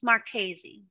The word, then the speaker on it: Marchese: block explorer well uh my last name is marchese not a lot of people could pronounce that my whole life is because it's m-a-r-c-h-e-s-c so my whole life i've been called more cheese or more cheesy and